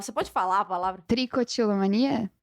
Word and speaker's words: tricotilomania: Eu te chamei aqui por um motivo em especial, que eu até esqueci como se pronuncia a palavra. Você pode falar a palavra? Tricotilomania? Tricotilomania, que é o advento da arrancação de cabelo.